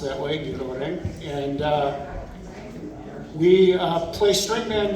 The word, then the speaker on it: Ngirchoureng: We are Ngirchoureng, pronounced that way, Ngirchoureng, and we play string band music in the style of the 1950s and 1960s from the western island Pacific of Palau.